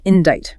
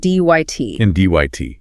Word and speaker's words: indict: Following that, we have the legal term indict pronounced ind. Indyt. And the silent c is the great deceiver here.